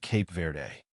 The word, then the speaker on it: Cape Verde: Portuguese speakers usually say Cabo Verde, while many English speakers pronounce it Cape Verde.